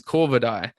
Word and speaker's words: Corvidae: The pronunciation is Corvidae.